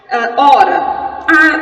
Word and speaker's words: hora: Hora. Nós também já vimos hora, que temos o H na frente, que ele não possui som, portanto, 4 letras, apenas 3 fonemas.